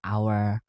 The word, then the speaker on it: hour: Nah, misalkan ee our ini tuh dibacanya O, H-nya enggak termasuk gitu. Jadi, an hour, an honor gitu.